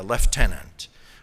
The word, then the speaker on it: lieutenant: purpose in the delay a lieutenant or as the British say a leftenant of the Grenadier guards